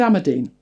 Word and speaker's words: Amadine: So I wrote it down phonetically and thought, okay, fair enough. Every other video said Amadine. So we're going with Amadine.